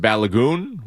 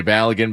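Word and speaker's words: Balogun: Flo Balagan or as I am told by a a an article that I read, his name is actually pronounced Balagon. We just say Balagan because that's easier.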